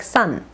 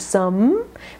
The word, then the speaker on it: some: some lips together H make sure for some Chinese speakers this will sound like Sun instead of some make sure the lips are touching some love watch The